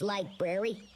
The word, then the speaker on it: library: It's pronounced library. The library of humanity. It's a tough one. Ragnora used to love going to that library. Yeah, you're still saying it wrong. There's two Rs in there.